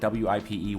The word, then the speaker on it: wipe: ch เนี่ย นะ ฮะ ก็ ต้อง ออก เสียง นะ ฮะ w i p e wipe ให้ เก็บ ตัว p ด้วย และ ชาว ไทย ออก